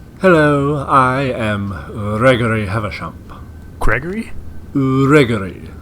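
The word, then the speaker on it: Greggorieg: Gregory? Gregory. 2 of the G's are silent. 2 of the... Can you spell that for us? G, that one is silent. R-E-G-G, that one is also silent.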